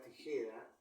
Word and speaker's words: tijera: de voz por ejemplo en la palabra tijera ti Je ra podemos decir que el acento prosódico se encuentra en la segunda sílaba G porque es donde recae la mayor fuerza de doz el acento prosódico por